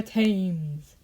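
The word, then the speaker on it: Thames: now we're in England The Arc rises from the river tames I must say it like that team dark which is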